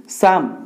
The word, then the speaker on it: Psalm: okay in this poem साम पीएसए एल एम आपको स्लाम पढ़ियानी साम okay P is silent here in this poem साम